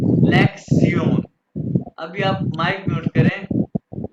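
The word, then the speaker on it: Lektion: ये शन जो है, ये टी आई ओ शन, इसको जर्मन में प्रोनाउंस करते हैं सियोन, यानी लेक्सियोन।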